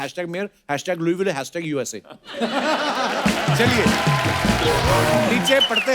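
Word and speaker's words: Louisville: आज आगे तभी बढ़ेंगे लुईस जब लिखा है तो स क्यों नहीं बोल रहे जैसे नाइफ में क साइलेंट होता है के साइलेंट होता है वैसे वो तो के पहले आता है ये तो बीच में घुसा हुआ है बट कई बार लुईस प्रोनाउंस होता है एस के साथ और कई बार नहीं और वो कई क्यों नहीं होता है कब होता है ये मुझे पता नहीं है मेयर ऑफ लुई विले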